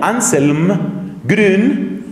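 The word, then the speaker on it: Anselm Grün: que se llama anselmo anselm grun g r u n la u se escribe con diéresis grun se pronuncia esa u suena como la u francesa ansel grun anselmo ansel gren es un autor es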